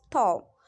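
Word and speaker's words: though: इसमें भी लास्ट में जी एच है तो वो साइलेंट हो गया है। क्या हो गया इसका प्रोनाउंस, थो।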